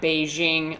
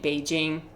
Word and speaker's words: Beijing: Like I don't be saying that Beijing. I be saying Beijing.